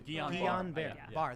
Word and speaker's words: Guillain-Barré: I will also say, however, to Charlie, Guillain-Barré syndrome, which I'm probably pronouncing wrong, it's a side effect. I always mispronounce it. Yeah, me too. Guillain-Barré.